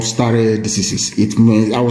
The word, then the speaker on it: stare decisis: According to the doctrine of stare decisis, it means that anytime you have a case involving Fulani headsmen and anybody, the pronouncement of Honorable Justice Adewale Thompson must hold sway.